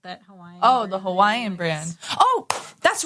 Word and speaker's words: Hawaii: and that's how you say it. Hawaii, like something like With a little bit of a V?